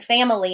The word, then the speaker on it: family: We don't walk around saying family in English. We say it very quickly, family. There's so little stress on that word that we take out an entire syllable.